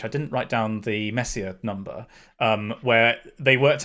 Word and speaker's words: Messier: dude it's named after charles messier is probably how you're supposed to pronounce it because it's french like mayonnaise um so uh oh